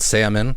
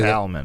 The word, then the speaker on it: salmon: And like you said, salmon or salmon. Do you say salmon? That? Salmon. Do you pronounce the L?